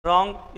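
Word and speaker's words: wrong: बात करते हैं आगे की, देखिए रॉन्ग। यदि मैं इसका W हटा दूं कोई फ़र्क पड़ा क्या उच्चारण में? नहीं पड़ा। P हटा दूं साइकोलॉजी का कोई फ़र्क पड़ा?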